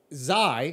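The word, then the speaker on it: Xi: you did you said kai yesterday don't do this again you didn't say you said kai on the bert massey the son of bert massey um okay so zai yeah is spelled x-i yeah the president or prime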